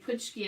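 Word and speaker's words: pączki: a little bit of that aqua color and putski is spelled p a c z k i i'm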